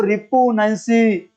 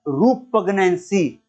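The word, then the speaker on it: repugnancy: इनू किते प्रनाउंस है ना कहदो रिपुनेंसी, इनू कहंदे आ रूपगनेंसी।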